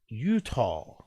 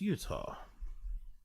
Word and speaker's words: Utah: How to pronounce Utah? Oh, it's pronounced Utah.